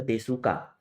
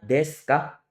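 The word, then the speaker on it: ですか: belakangnya jadi Deska nah unya juga tidak boleh di dibaca ya tidak boleh Dibaca desuka tapi dibacanya Deska nadanya naik ke atas karena bertanya ya jadi karewa gaksedeska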